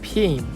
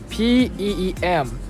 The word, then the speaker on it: Peem: And my nickname is Peem. Can you pronounce that? P-E-E-M.